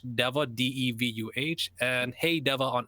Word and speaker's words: Deva: Well, you guys can primarily find me on YouTube on Hey Deva, HEY space DEVUH. It's not Diva, it's Deva.